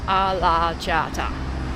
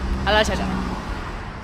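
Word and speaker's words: Alaçatı: I think it is pronounced Alachata. Alachata.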